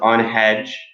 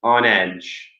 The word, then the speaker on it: on edge: Be careful with the pronunciation. There's no ha. There's no, it's not on hedge. It's on edge.